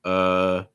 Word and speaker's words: uh: a couple options here you can say like uh uh typically has a rising intonation so it's not uh it's usually more uh